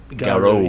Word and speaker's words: Garo: Garo. Garu? Garo. Yeah. I just pronounced it the way I did because, you know, I'm trying to say wolf in Japanese.